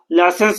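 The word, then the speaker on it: Lassaigne: Detected detected by लाइसेंस हम लोग जब लिखेंगे इसको तो लेसगनेज लिखेंगे यानी स्पेलिंग मिस्टेक ना हो हम लोग मन ही मन पढ़ लेंगे क्या? लेसन पढ़ लेंगे। लेकिन जब प्रोनाउंसिएशन करेंगे तो लाइसेंस का करेंगे।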